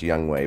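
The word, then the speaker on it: Younghoe: this game though for Atlanta was their kicker yungho coup and I know it's pronounced young way but it's spelled like yungho and you know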